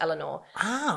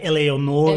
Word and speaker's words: Eleanor: She wanted a name that could be like not mispronounced, and she said like in Belgium people would say like Eleonore or something.